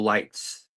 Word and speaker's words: Leitz: Anyway, here's Litz everybody. Litz. Actually, that's Lights as in the light of Light.